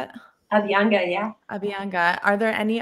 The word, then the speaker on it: Abhyanga: Abhyanga, yeah.